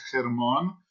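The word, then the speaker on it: Hermón: del Río del monte germon Normalmente se escribe con h pero es H aspirada es una J el el monte germon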